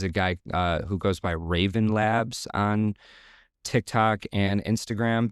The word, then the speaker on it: Wraven: guy who goes by Raven Labs on TikTok and Instagram. The Raven is spelled with a W. It's WRAVEN.